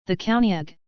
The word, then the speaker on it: Caoineag: the County ag Scottish Gaelic pronunciation is a female spirit in Scottish folklore